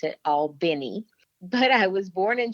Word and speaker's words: Albany: Albany Georgia and the folks in Albany actually pronounce it all Benny but I was born in Georgia raised for